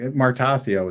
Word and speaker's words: Martoccio: How do you say it, by the way? I say Martoccio, but I actually I've never asked you. That's probably correct. Martoccio is what we say.